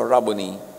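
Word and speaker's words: Rabboni: John 2016 humarap siya at kanyang sinabi raboni or guro. Yung mga Amerikano sasabi nila, rabon. Pero that's an Americanized pronunciation. A Hebrew word walang long eye. So Rubony. Matthew 289 another kwento.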